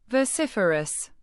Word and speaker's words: vociferous: Vociferous. Pronounce it as vo-cif-er-ous with the stress on the second syllable.